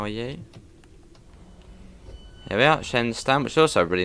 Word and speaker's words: Shenstone: Oh, it's pronounced Shenston.